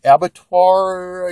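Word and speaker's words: Abattoir: Daredevil in Black Widow the abbatar I believe is how you pronounce that uh issue number 74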